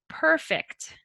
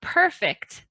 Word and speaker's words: perfect: So our next word, we have two pronunciations. The first one is the adjective or noun perfect. Perfect. So you look perfect today. So everything looks great. Nothing is wrong. Our verb, perfect.